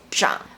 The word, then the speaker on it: 长: On top of this, when this character has something to do with elders, older people, or a certain position, it's also pronounced as 长.